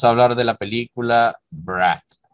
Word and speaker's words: brat: Y vamos a hablar de la película Brat. En ruso se pronuncia así, hermano, brat. Vamos a hablar específicamente de Brat 1 de 1997, de su director Alexei Balaganov.